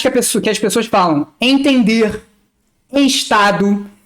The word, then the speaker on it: estado: Então, por exemplo, tem lugares que as pessoas falam entender, estado, mas aqui no Rio a gente fala entender. Estado é como se a palavra fosse escrita com I, né?